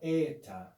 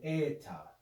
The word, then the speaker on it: eta: light or simple e the eta would be the long e it's pronounced with the sound a a and is always long e so now we have